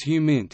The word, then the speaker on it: HUMINT: human intelligence, frequently abbreviated HUMINT and sometimes pronounced as HUMINT, is intelligence gathered by